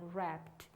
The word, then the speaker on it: wrapped: blanket around his dog we can't hear the w in wrapped the same is rach